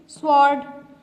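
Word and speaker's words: sword: Rake, wrist, स्वॉर्ड, इन वर्ड्स में W क्या है? साइलेंट है.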